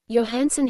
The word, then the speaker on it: Johnson: Johnson has been guilty of speaking his mind too freely and has collided two or three times with Wolf Len over the pronunciation of his name. Yansen he thrashed on the